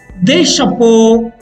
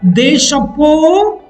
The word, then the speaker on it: chapeaux: Un chapeau, des chapeaux. Un tableau, des tableaux. There is no change in the pronunciation too. Un chapeau, des chapeaux.